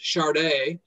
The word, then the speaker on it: Sade: as an example the the artist chardet um you know she spells her name her name sade i would actually spell it as s-h-a-r-d-e as an example or